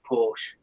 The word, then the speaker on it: Porsche: Tandy Oh Charlie and because it's German you pronounce the e off it's a Porsche get out here have